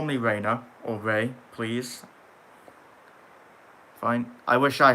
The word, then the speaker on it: Rei: Ray. Nice, yeah. It's not spelled like that.